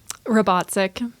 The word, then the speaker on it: Robatcek: Robatcek.